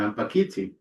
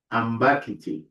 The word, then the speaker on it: ambakiti: Then we have another example, such as, well, apparently it's ampakiti, but it's not ampakiti. We normally say ambakiti, ambakiti. And the stress goes on the second syllable. Ambak, well, on the third, on the second one, yeah, ambakiti, ambakiti, which